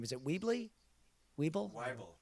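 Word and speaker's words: Wyble: Is it Weeble? Weeble? Weibel.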